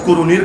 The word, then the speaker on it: কারানি: আর কারানি, কুরুনি না, কারানি, কারান হলো একটা গোত্রের নাম। এখন গোত্রের দিকে নিসবত করে বলা হচ্ছে কারানি, মানে কারানের অধিবাসী।